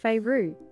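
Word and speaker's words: Feyre: However, Faye, pronounced Feyru, is so different from other fantasy protagonists I have read, because she is so unapologetically human.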